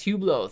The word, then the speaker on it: Hublot: you go hublot we're talking hublot brendolero call pronounced hublot thank you for the pronunciation there really appreciate